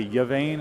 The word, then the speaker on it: Yvain: And Yvain is the correct pronunciation. Yvain, I was hearing people say Yvain, and I was like, no, that can't be right. Yeah. So wait, I did say it confirm again. It's Yvain. Yvain.